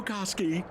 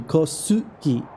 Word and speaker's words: Koski: pronunciation of Koski? Not Koski. Huh. Maybe just because pull, but then there should be another vowel after the S, so ski. It should be Kosuki if it was Japanese, but then again, this